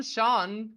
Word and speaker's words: Sean: same Sean John Sean Sean really yes that's just s-e-a-n is pronounced Sean it is a generic name but you also have the no like you wouldn't pronounce it scene right you would have